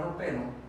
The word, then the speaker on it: ropero: La palabra ropero podemos descomponerla en ro, pe, ro. Como vemos, la sílaba P es la que se menciona con mayor intensidad. Entonces, esta es la sílaba tónica.